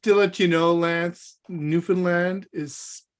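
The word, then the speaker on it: Newfoundland: the board just to let you know Lance newfinland is pronounced like telegram I'll just call telegram for now on then New Finland not New Foundland well so wait a minute so Telegram and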